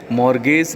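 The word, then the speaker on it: mortgage: बंधक ऋण पत्र, मॉर्गेज डिबेंचर्स, इसमें टी साइलेंट होता है।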